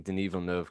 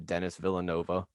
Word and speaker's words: Denis Villeneuve: Oh, and Ben, by the way, thank you for pronouncing Denis Villeneuve correctly. I declared him my favorite director for a full year while calling him Dennis Villanova.